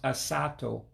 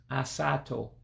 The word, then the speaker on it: asatọ: All right, now remember the number 8 is pronounced asatọ, asaa-toe.